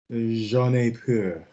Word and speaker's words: J'en ai peur: J'en ai peur. Good. That's better. Lovely. J'en ai peur. J'en goes down. On est. J'en ai peur. Mouth closed.